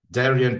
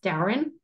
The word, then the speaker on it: Darian: have a another name not many people pronounce Darian right so I just go with because I'm from Australia a lot of people just assume it's Darren so because Darren's like a typical Aussie name um but so I